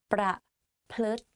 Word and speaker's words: ประพฤติ: ประพฤติ pra and then plut like L sound within the word. So it's like pra, plut.